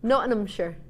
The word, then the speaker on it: Nottinghamshire: I'm not there I I don't pronounce the tea if you're from notam you don't pronounce the tea you're not them notum sure that doesn't sound even right in my head notum sure oh I feel like I'm missing out a tea oh that's cuz